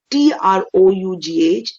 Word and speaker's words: trough: one we have trough t-r-o-u-g-h is trough it rhymes with cough a trough is a